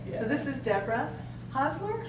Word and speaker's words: Hosler: So this is Deborah Hosler. How do you say that? Yes. Hostler.